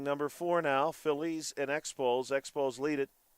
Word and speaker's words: Expo: Phillies and Expose.